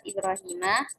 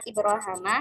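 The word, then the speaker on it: إبراهيم: Lalu yang permasalahan yang ketiga yaitu pada lafaz Ibrahimah yakni farsul huruf. yang mana Hisyam itu membaca dengan Ibrahma. Sedangkan Ibnu membaca dengan dua wajah bacaan yaitu bisa Ibrahima dan Ibrahma. Sedangkan Albaqun membacanya Ibrahima.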